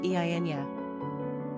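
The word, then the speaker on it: Eithne: Alternately, Edna is considered an anglicized form of I, an Irish and Scottish Gaelic girl's name, pronounced Eynya.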